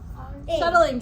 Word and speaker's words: shuttling: Shuttling. Drop the I. That's a two-syllable.